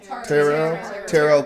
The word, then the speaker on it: tarot: to go see a tarot card reader. Tarot. I guarantee you, I'm not the only one that doesn't know how to say that. Tarot is tarot. Tarot. Tarot. T is silent.